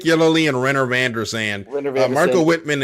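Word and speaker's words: Yelloly: Uh, how do you say his name? Yellow, I believe. Yo, Nick Yoy, Yoy, Nick Yellowy, excuse me. It's Nick Yoly and Rener Vanderan.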